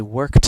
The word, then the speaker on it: worked: It makes more of a T sound. Even though it's spelled ED, it makes that T sound. So voiceless sounds, when verbs end in voiceless sounds like K, the ED sounds like the voiceless T.